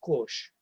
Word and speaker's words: kosh: And kosh comes from, Kalpana might not know this, but comes from Gujarati, in fact, where it's pronounced kosh.